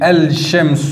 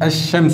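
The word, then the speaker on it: الشمس: voir certaines notions pourquoi on ne prononce pas le lem dans certains mots ce sont pour des raisons de prononciation et de difficultés un de difficultés à prononcer par exemple si je disais elle chems où ce serait un peu lourd à prononcer donc c'est pour ça qu'on ne le prononce pas on dit elle chems ou et nous allons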